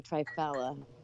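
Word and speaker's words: triphala: I say trifala. That's how I pronounce it. That's the proper pronunciation. Yeah. Okay. Try as in three and fala as in fruits.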